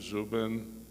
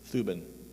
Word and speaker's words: Thuban: the Dracos, and then you said Zubin. Thuban. How to spell it? Thuban is their homeworld. Thuban. Thuban. Oh, I mistook it for the Zubin, so it's Thuban.